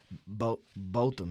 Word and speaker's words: Botham: Botham, yeah.